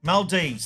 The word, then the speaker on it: Maldives: Maldives, that's how you say it, yes.